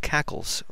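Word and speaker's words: cacls: do this using another command called cackles which is spelled c a LS so I'm going to type in that command followed by the file name the uh WPD fs.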